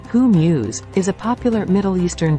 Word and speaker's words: hummus: Eastern Delight hummus hummus pronounced who Muse is a popular Middle